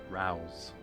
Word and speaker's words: Rouse: know it from books Rouse rhymes with cows I should like to